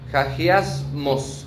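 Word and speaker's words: ἁγιασμός: Esa palabra santidad, como ya hemos dicho, en el griego es hagiasmos, con acento en la O, que significa literalmente purificar.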